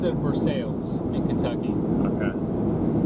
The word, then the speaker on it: Versailles: So, in Kentucky, that town name, they pronounce it Versailles in Kentucky. Okay. It's Versailles.